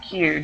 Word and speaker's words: queue: people okay okay and it's pronounced Q just like the letter q q pronounce it Q